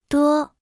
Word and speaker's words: 多: 多多多多多多多 Se pronuncia con el primer tono.